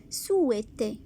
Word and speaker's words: souhaiter: Regardez bien ce verbe. Souhaiter. On ne prononce pas H.